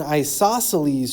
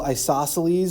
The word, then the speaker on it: isosceles: The way I remember to spell isosceles is I always say it wrong in class. So in class you might hear me say isosceles. That reminds us that there's a C after the second S there.